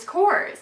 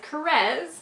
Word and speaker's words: Caress: of my girlfriends um how do you say this brand and she said I think it scores and I said okay i think its course to and i actually asked one of the girls that works for them and it is caress so I stand corrected I've been saying it wrong for like I don't